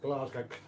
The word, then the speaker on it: Glasgow: Glasgow, that's the way I pronounce it.